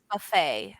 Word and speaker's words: buffet: buffet buffet so you the t is silent so you kind of just say buffet uh-huh buffet is a